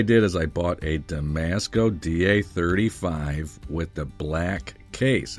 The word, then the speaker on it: Damasko: It's discontinued through DAMASKO themselves, and I've heard it pronounced DAMASKO or Damasco. Mark from Long Island Watch pronounces it DAMASKO, so that's how I'm going to pronounce it.